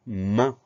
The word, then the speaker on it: main: Le mot suivant, c'est le mot main. Alors, une seule syllabe. Ça commence par la lettre M. Ensuite, on a le son 1 dans ce mot-là.